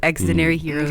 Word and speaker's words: Xdinary Heroes: jyp's new boy group extinary heroes yeah i was like how do you say this because the games are just very heroes the shortened form of extraordinary so accidentary heroes they are the new